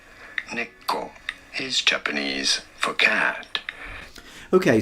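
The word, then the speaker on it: 猫: Neko. Neko is Japanese for cat.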